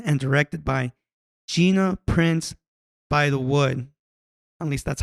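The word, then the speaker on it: Bythewood: It's an American romantic sports drama film written and directed by Gina Prince by the Wood. At least that's how it's pronounced.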